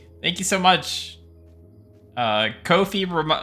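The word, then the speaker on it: Ko-fi: Uh Kofi rhymes with Noi. Yes. Thank you so much. I appreciate that. Thank you for the reminder. Kofi rem uh rhymes with no fee.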